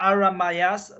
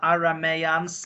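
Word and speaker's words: Aramais: yeah that makes sense yeah they are aramayas but we are calling them aramaians like for how can I say it plural these are easier pronunciation and but they are aramayas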